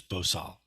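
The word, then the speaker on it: 보살: Korean more more exactly uh bodhisatwa is just pronounced as bosal but sometimes the full version both in Chinese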